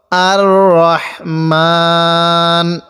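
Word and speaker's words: الرحمن: রাহমানির রাহিম আর রাহমান এখানে আমরা আর রহমান পড়বো না আর রহমান র জবর রা কেউ পড়বো না তাহলে কিভাবে পড়বো আর রহমান অনেকে আমরা ওয়াকফ করি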